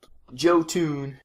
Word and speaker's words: Jotun: Jotun. Yeah, Jotun.